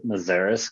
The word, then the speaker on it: Meszaros: So we've always just said Meszaros because that's what's been passed down to the family. It's actually originally Meszaros, Hungarian name.